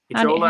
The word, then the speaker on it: Echola: Do you have any information on mounds in, I don't know if I can pronounce that, Ecola or Ecola? Echola, Alabama?